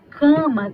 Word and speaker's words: cama: eu deixei para vocês cama quando eu falo cama quando eu leio quando eu pronuncio cama eu não tô falando assim ó